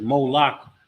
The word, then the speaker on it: Molech: it a particular way it says Mo lock but it's the same it's talking about the same thing and the King James